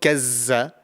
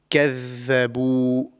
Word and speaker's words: كَذَّبُوا: And often this is, mispronounced with za, the letter za. So it's not kazza, it's kadhabu. This is the correct pronunciation.